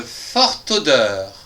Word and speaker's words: forte odeur: La 5è phrase, une forte odeur avec ici on va prononcer le t avec le qui va nous faire ta une forte odeur.